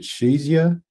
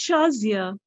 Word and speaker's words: Shazia: uh pronounce your name is it shazia or shays uh shazaya no it's neither of these two pronunciations that was way off okay how how do you pronounce it it's shazia shazia okay all right yeah